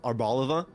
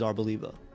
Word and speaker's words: Arboliva: Arbaliva instead of arbalivva. Mhm. So ar Yeah. Yeah, it's intuitive to say arbalivva cuz then you stress the olive. But arboliva also makes sense because of div.a. Um, but it is arboliva.